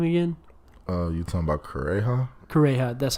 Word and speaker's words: Kureha: Kureha, that's how you say it.